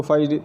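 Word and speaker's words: phi: जो इसका सिंबल होता है वो होता है फाई, इसको फाई से प्रोनाउंस करते हैं।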